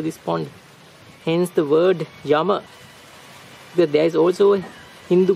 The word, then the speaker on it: Yama: board this is spelled as spokane jama though pronunciation is with a wife yama this is another view of yama this human